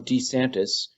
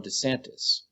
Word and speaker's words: DeSantis: says it and furthermore he seems to be emphasizing the first syllable I'm I'm Ron DeSantis whereas everyone else emphasizes the second syllable run DeSantis so is Ron DeSantis trying